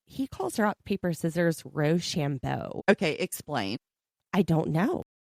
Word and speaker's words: Rochambeau: Not shoe, but sham. Rochambeau.